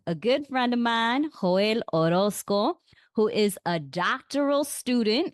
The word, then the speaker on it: Joel Orozco: so let's get into it today we have hoel Orosco is that how I pronce pronounce it yes you got it right all